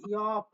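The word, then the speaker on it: 옆: ই অ আর নিচে যদি ফিউব দিয়ে দিই তাহলে হবে ইয়প।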